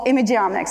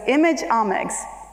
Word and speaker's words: imageomics: It's the omics of images, so it's imageomics.